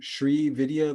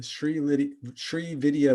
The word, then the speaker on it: Sri Vidya: She is initiated in the Sri Vidya lineage. Is that how you pronounce it? mhm, yeah. The Sri Vidya lineage of Tantra, and has been practicing the healing arts since 2002.